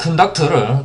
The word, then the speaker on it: conduct: 이 conduct를 또 명사적인 의미로 해석을 하면은 이것은 하나의 행위가 되죠.